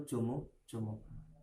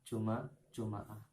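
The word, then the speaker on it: جمعة: Cuman yang lebih afsah ketika ada 4 cara baca, itu yang lebih afsah itu adalah lughatnya Bani Hijaz atau ulama Hijaz, yaitu Jumu'ah. Itu yang paling afsah. Bawahnya itu baru fathah, Juma'ah.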